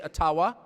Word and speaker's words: Ottawa: taken from you no matter who is in Ottawa or as we say atawa which by the way is the correct pronunciation according to my friends in the ajua